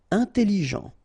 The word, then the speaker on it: intelligent: Intelligent, final T not pronounced, so G-E-N, Jean, okay, intelligent. Double L, it opens the pronunciation of your E, so it's E, intelligent.